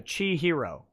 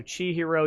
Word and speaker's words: Chihiro: prince by the way my name is pronounced ch chi hero okay so chi hero your boyfriend is still